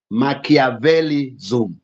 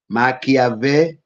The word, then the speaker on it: Machiavellianism: Then number 2, under the dark triad, we have Machiavellism. Machiavellianism. Those who are doing English literature, there's a writer called Machiavellian. So we are saying Machiavellianism. Sorry, Machiavellianism. Machiavellianism.